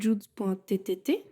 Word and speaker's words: Judz: donc rester sur udz donc j+u et Z ça fait Jude ok on peut plus